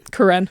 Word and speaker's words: Karen: Do you pronounce it Karen? Karen. Karen. Yeah.